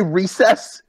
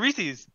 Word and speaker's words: Reese's: it's Reese's. It's Reese's. You got it. What? What did you used to call it? Did you just say recess?